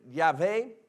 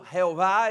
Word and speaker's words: Yahvé: el nombre de Dios Dios se reveló a Moisés con el nombre yahvé que llegó a ser pronunciado Jehová en español por un error de los traductores pero eh usamos vemos